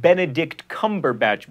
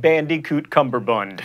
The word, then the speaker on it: Benedict Cumberbatch: is apparently a nerdfighter you say that Benedict Cumberbatch by the way not bandicoot cumberbund and that is the